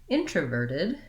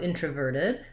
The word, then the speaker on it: introverted: So where I mentioned the T, it matters when I change to introverted, then I have to add another syllable, which consists of a lax I and the voiced D sound, and then this T becomes a flap. So it sounds more like verted, instead of verted. Americans will use that flap T between two unstressed vowels. So introverted, same thing with extroverted. We kind of lose that T and it becomes did.